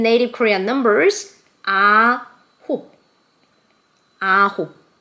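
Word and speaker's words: 아홉: Ahop. Ahop. Like J-Hope.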